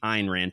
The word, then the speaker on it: Ayn Rand: is aim Rand tomorrow you can pronounce it I and ran - it's just woman